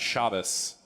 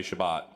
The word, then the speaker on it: Shabbos: and aunt randy who explained the meaning of shabbos and how that was the more correct way to say shabbat and if anyone told me otherwise they should